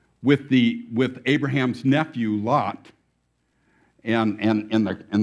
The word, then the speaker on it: Lot: that we're leading they're they're using Hebrew so it's loot but I don't want to confuse Myself by pronouncing something different than I'm used to pronouncing it so I'm going to call him lot lot the these same